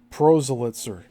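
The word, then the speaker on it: proselytizer: takes a while to also remember how to pronounce them. Prozalitzer P R O S E L Y T I Z E R nor proitzer of any particular brand of faith.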